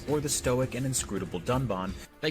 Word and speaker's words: Dunban: disagree with, and then calls the character Dunban Duncan. This time, however, they did edit out the mistake.